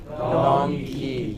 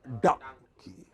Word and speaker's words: donkey: Donkey. It is not dong, it is dung. Open your mouth, like the hood of a crocodile. Donkey. Open it fully and close it quickly.